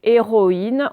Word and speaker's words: héroïne: Et bien là, c'est pareil, on ne prononce pas le OI comme habituellement. D'accord? Donc, une héroïne, on n'entend pas ouin, donc on l'écrit ici.